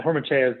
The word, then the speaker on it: Hormachea: I wasn't expecting to speak, but yeah, Hormachea is how you say the last name.